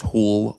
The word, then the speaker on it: Hool: Mine is pronounced Hool, like pool with an H.